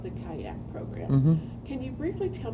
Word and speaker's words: CYACC: Conditions of Childhood, and we call that Kayak, or CYACC, and we know it's phonetically incorrect, but you'll give us that license, please.